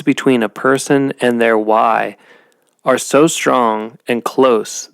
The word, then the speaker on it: way: that the Mayans call why w-a-y but it's pronounced w-h-y and why is this